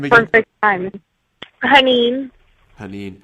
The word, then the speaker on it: Hanin: Haneen. Haneen. How do you spell that?